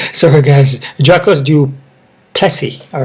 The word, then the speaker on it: Du Plessis: foreign guys we got Diamond two versus drocos duplex pelsi sorry guys Jacques do Plessy all right to him my bad man um